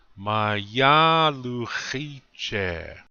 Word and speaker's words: mayaluchiche: You notice I come up a little bit in volume, but not like in the second syllable. Listen one more time. Mayaluchiche.